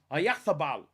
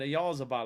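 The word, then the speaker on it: Oyarzabal: Ayathabal. Because apparently everyone said I said his name wrong. I said Ayazabal, I think. Ayathabal. Ayathabal, is it?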